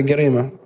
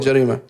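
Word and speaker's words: جريمة: Because some Arabs, they'll say Garima to mean Jarima. Because some Arabs pronounce Ja as Ga.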